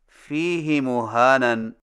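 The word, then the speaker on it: فِيهِ مُهَانًا: Number 9، فیہ مہانن میں فیہ کی ہا کو کچھ کھینچ کر پڑھیں، یعنی اس طرح فیہ مہانن۔ ہماری قراءت روایت حفص میں اسے فیہ ہدن کی طرح فیہ مہانن پڑھنا صحیح نہیں۔ صحیح تلفظ کے ساتھ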